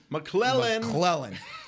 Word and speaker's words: McClellan: How do you say his last name again? McClellan. You like to put a D in there. Yeah, you like to call him McClendon.